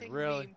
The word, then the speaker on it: meme: Meme correctly. Say meme with a long e sound. As noted above, the word meme is pronounced so that it rhymes with team or beam.